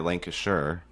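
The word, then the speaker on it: Lancashire: Lancasher. That's how it's pronounced.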